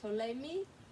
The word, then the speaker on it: Ptolemy: Ptolemy is the silent P, so we say Ptolemy, the psychic pterodactyl struggled with his psoriasis.